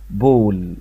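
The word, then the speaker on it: ball: لكن حرف الايه لما يجي وراه دبل ال يعني ال وال يتنطق حرف او، فالكلمة دي اسمها كول، كول. طب والكلمة دي بول، بول يعني كورة، عارفينها كلنا.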